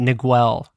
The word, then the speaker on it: Niguel: I used to remind myself how to spell it by calling it Niguel. So. Nice. Yeah, there's that missing like, U.